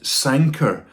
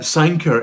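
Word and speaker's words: Sanquhar: um to look at sanker patterns now um that's spelled very differently um from how it's said and I'll put the they put the the spelling along here uh sanker is is a town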